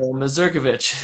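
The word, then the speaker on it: Mazurkiewicz: There are people in the old country who would say Masurkiewicz, but Yeah. Here in Canada, Masurkovich is right. Pretty standard.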